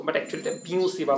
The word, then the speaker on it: Biot-Savart: টপিকে যাচ্ছি, সেটি কি বায়ো-স্যাভার্ট ল। কমনলি যদিও আমরা এটাকে বায়ো-স্যাভার্ট ল বলি, এটা অ্যাকচুয়ালি প্রোনাউন্সিয়েশনটা হচ্ছে কি বিওসি বা ল, ঠিক আছে?